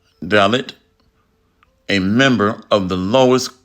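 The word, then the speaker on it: Dalit: this up real quick a dallot in India pronounce dallot a member of the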